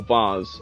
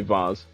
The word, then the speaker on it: vase: After blank dropping the expensive glass vase, or vase, I would say vase, Americans say vase, James decided not to touch any other objects in the store.